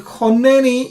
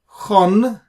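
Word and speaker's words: חָנֵּנִי: If that's the case, then choneni is actually technically chonneni. Chonneni. So we split the nun into two because of the Dagesh. It's called doubling or gemination. So essentially, the Dagesh is nothing but two nuns. Chonneni. Chon plus neni becomes chonneni.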